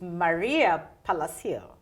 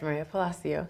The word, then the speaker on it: Maria Palacio: virtual your host and my special guest is Maria Palacio is that how I pronounce it yes Maria Palacio oh yes the director at the Acton Memorial